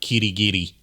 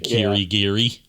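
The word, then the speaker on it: Kirigiri: uh tapping the R on uh Kitty Giddy instead of just saying Kiri Giri.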